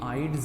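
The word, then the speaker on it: Eyde: ये आइड्स नहीं पढ़ना आपने इसको, ये डी साइलेंट है, बर्कलैंड आइड्स प्रोसेस।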